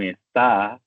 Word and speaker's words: está: Los estudiantes suelen tener dificultad identificando las sílabas tónicas, así que siempre incluyo no confundir con esta, que tiene la sílaba tónica en ta y no en es.